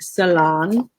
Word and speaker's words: saloon: And this says saloon, like it's spelled S-A-L-O-O-N, but they would have said salon.